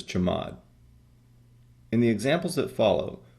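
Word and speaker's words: chmod: Control lists is the change mode command which I usually pronounce as chamad in the examples that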